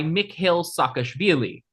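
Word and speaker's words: Mikheil Saakashvili: There was a contested parliamentary election and Charvadza resigned in order to be replaced by Mick Hill Sakashili. Hey, you pronounced that correctly.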